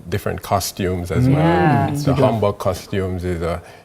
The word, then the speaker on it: 한복: Simi has on the hanbok.